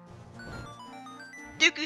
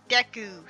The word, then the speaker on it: Deku: well I call him Dooku scrubs apparently you're supposed to be pronounced Deku scrubs that's always weird to